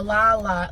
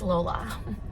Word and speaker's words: Lolla: And people say Lola, Lala. Look, it's spelled Lolla. I've been saying Lala my entire life. I think you can say it either or. But if it wants to be Lala, spell it Lala. I'm pretty sure it's Lola.